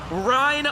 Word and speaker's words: Ryan: Bud you're great but it's pronounced rine like win so I've been saying it wrong until I read that exact word Rin with an R like Catherine a lot of people